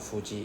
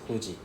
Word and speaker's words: Fuji: There is no F sound in Japanese. Instead it is actually a H sound. Right. It is just written as F but it's actually a H. Right? So we pronounce this as h h sound. So when we Singapore we always say w fuji fuji. Sorry it is not fuji it's huji huji huji right?